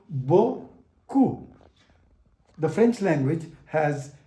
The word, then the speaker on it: beaucoup: E-A-U is pronounced as O. O-U is pronounced as U. It becomes beaucoup.